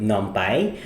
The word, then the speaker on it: NumPy: for today we will be discussing numai or other people would like to call it or pronounce it as n but seeing that it's numerical python for this course we will call it numai now numai is